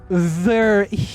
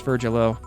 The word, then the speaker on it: Virgilio: It's pronounced Verhirio. No, I'm pretty sure it's Virgilo. You said so. You said as much last time you came.